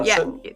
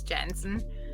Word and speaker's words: Jansen: so I grew up in Germany, and in Germany we say Jansen, but I moved to New Zealand 17 years ago, and in the English-speaking world it's Jensen.